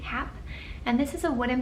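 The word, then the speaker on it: Hape: be this is by I think hap is how you pronounce it ha a p e hap and this is a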